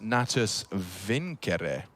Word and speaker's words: Natus Vincere: navi's full name and want to say it correctly as in the Latin it's actually pronounced natus vincere okay so there you